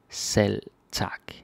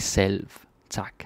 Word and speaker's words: selv tak: Selv tak. We don't really pronounce the V like selv tak.